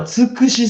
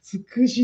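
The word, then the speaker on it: 土筆: 土筆さんはつくしさんか。すんごくありがたい。そうか。つくしって読むもんな。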